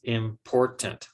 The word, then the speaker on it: important: It's important. Also, 4 syllables. but only one of those syllables gets the most stress. And that's because the word important is stressed on the second syllable.